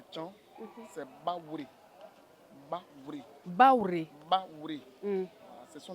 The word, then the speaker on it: Baoulé: Baoulé, je dis normalement c'est Baouré. Vous voyez comment je prononce en vrai à Tcham. Baouré. Baouré. Voilà, Baouré.